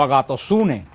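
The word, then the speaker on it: ἀγαθωσύνη: La Biblia se pronuncia como agatosune, que se pronuncia en griego la palabra bondad.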